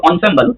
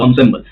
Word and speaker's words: ensemble: If the pronunciation is ensemble but it's the spelling is so its spelling is ensemble n s but it is pronounced ensemble.